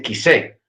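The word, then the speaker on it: כִּסֵּא: les llama trono, que en hebreo se dice kisé. Entonces, la pronunciación o el decir ese lugar, kisé, dice que mi nombre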